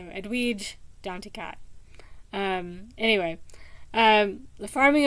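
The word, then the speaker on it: Edwidge Danticat: of hers and uh the way I used to pronounce her name was really not the way um the audiobook readers pronounce her name and they seem to be consistent so edu D to cat um anyway um the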